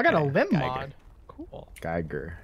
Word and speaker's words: Geiger: Geiger. Yeah, that's how you say it.